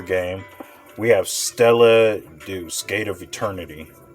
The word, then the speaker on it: Deus: So going into that number 4 game, we have Stella Deuce, Gate of Eternity. Stella Deus, am I saying it right? Deuce Deus? Stella Deus, I'm just going to go with Deus.